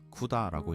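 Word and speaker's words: CUDA: 그래픽 카드 회사인 엔비디아가 전혀 다른 무언가를 만들겠다고 쿠다라고 읽습니다.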